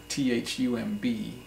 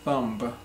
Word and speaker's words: thumb: go over is thumb th um B it's not thumb but thumb the B is silent so thumb is this